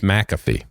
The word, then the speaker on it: McAfee: I just know how to pronounce it. It's MC. Okay. AFEE. Okay. So it's McAfee.